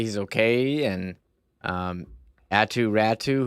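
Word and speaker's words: Räty: okay and um attu ratu who I learned that's how it's pronounced it's not pronounced uh ratty uh to add to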